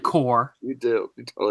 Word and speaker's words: Corps: the Green Lantern Corps what did I say corpse no I did not I said core you do it said